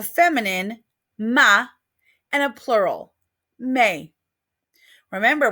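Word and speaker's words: mes: Ma and a plural may remember we don't pronounce that S at the end of May so let's go through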